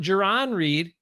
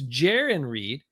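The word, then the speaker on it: Jarran Reed: Not Jaron Reed, like a lot of people said early on. It's Jaron Reed. And Jaron rhymes with Darren, is doing pretty well.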